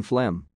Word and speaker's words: phlegm: PH sounds like F, as in phlegm.